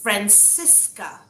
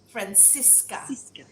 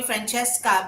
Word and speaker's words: Francissca: the name actually it's francisca francisca because there cis so you emphasize on francisca uh it sounds spanish but on one hand it's pronounced francisca you know italian almost um but uh yeah